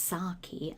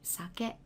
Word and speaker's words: sake: make your Japanese polite sake which sometimes is pronounced saki I think in English sake that's the traditional Japanese rice wine again it's got an optional honorific so you can either simply say sake or osake osake osake